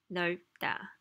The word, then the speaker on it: 넓다: So B kind of disappears, and what happens is you pronounce 널 for sure, and then B, you make that close your lips and hold in the air. But a little buzzing because it's a nasal sound.